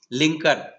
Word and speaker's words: Lincoln: लिंकन शब्द का spelling को ध्यान से देखिए, स्पेलिंग क्या है, LINCOL है बाद में, लिंकन मतलब यहां पर L साइलेंट है, लिंकन, ठीक है ना।